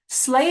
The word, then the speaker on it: sleigh: Sleigh is very difficult because it has a lot of silent letters and it's not really spelt how it sounds.